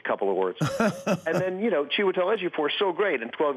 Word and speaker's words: Chiwetel Ejiofor: How do you pronounce his name again? Chiwetel Ejiofor.